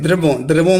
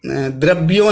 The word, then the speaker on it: द्रवों: द्रवों मतलब द्रव्यों नहीं, द्रवों हैं, द्रवों। देखें उच्चारण देखें।